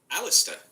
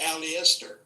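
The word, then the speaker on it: Aleister: Alistister. Okay. I don't I didn't get to I say als you you did. It's an extra syllable in that one.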